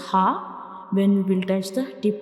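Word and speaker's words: ه: So these two letters are throat letters, ha and hamza, and these two letters are pronounced from the bottom of the throat, ha and hamza.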